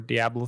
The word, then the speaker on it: Diablo: rpg game just like path of exile or diablo three um you just kill demons and fight